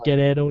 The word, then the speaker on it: Guerrero: have Chavo Geto Jr I'm saying it like Geto now because that's how they say it um and Chavo is